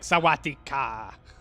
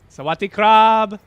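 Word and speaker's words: สวัสดีครับ: is mine but you're supposed to say it like with the right intonation because it's a it's a tonal a tonal language so you can't just be like sawadeeka you'd be like Sawatdee krub but and then they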